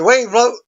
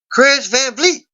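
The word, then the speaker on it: Kris Van Vliet: she screams and he Wayne float blows out a bunch of candles in front of her during the seventh I've been pronouncing this guy's name wrong I do apologize it's a Kris Van Fleet as he introduced the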